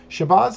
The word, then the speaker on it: Shabazz: Shabazz is how he pronounces his last name.